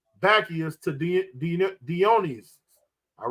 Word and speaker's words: Dionysius: the Roman version of, how you pronounce it again? Dionysius. Where's that? Yeah, that's how you say it, Dionysius.